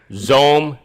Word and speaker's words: Xome: Zome did an about face today that's spelled XOME, X-Ray Oscar Mike Echo.